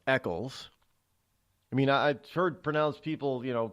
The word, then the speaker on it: Eccles: Nobody thinks that my last name is actually pronounced Eccles.